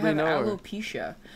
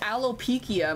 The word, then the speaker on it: alopecia: me why I have alopecia also that's how you pronounce that I pronounced it as alop pikia my whole life alopecia aloia that's how